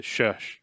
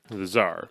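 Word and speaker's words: Shah: But thesar. The sha. The sha. Sha. Yeah. I always thought he said thesar, but no. The sha.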